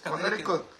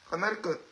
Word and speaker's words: Connecticut: Es Connecticut. Connecticut.